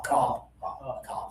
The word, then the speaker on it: cop: This sound happens here. Ah ah ah cop.